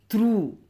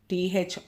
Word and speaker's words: through: ஜிஹெச் GH first word பாருங்கள், த்ரூ. THROUGH த்ரூ. த்ரூன்னு முடியுது, அது ஜிஹெச்சுக்கு சவுண்டு இல்லை.